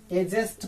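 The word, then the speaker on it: adjust: अब आइए यहाँ पे देखिए, अगर डी के बाद जे आता हो, डी के बाद अगर जे आता हो तो डी क्या हो जाएगा, साइलेंट हो जाता है। यहाँ देखिए डी के बाद क्या आया है, जे आया है, यानी यहाँ पे डी को हम लोग प्रोनाउंसिएट नहीं करेंगे।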